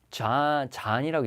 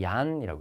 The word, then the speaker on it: Jan: 근데 보통 유럽에서는 독일은 특히 저 J를 갖다가 야로 읽어요. 그래서 저거는 잔이라고 읽는 게 아니고요. 얀이라고 읽어요.